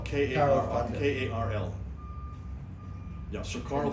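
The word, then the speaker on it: Karl: Carl Fander.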